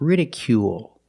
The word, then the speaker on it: ridicule: It's not ridicule or ridicule, it's ridicule. Make the long oo sound plus the dark L at the end of the word.